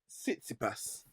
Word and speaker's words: Tsitsipas: I can pronounce his name, man. Don't watch that. It is Tsitsipas. Yes. Sorry? Tsitsipas.